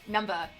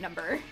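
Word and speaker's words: Numbuh: Like they spell uh Numba uh N U M B U H, which is which is why I pronounce it like that instead of number.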